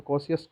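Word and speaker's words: Kosciuszko: और करने की कोशिश, तो यहाँ पे देखिए कॉस्कियस, कॉस्कियस को है, यहाँ पे जेड साइलेंट है, तो कॉसियस को कॉसियस को है।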